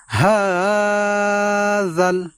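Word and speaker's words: هَٰذَا: হাযাল হাযাল, এবং এখানে আমরা হা এই জায়গা আমরা লম্বা উচ্চারণে টান দিয়ে পড়ব হাযাল এইভাবে।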